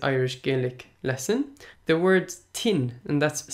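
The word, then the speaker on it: tinn: Gaelic lesson the word tin and that's spelled T I and and it means to be sick our sickness so the word tins clearly as starting with a CH sound so like chin like in the English chin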